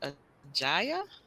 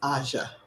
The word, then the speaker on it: Asha: pronounce your first name is it ajaya it's Asha okay um okay hey